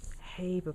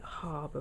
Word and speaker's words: Haber: in the gaseous state this is called the haber process some people pronounce it harbor process and it's used to make ammonia and